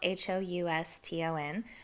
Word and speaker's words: Houston Street: you know it's spelled h-o-u-s-t-o-n um there is a street in new york that's spelled the same exact way but we call it houston street i don't know why